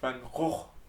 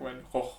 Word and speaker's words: Van Gogh: Oh no, his name is pronounced Van Gogh. I learned it somewhere random, but like his the proper way to pronounce it is like Van Gogh.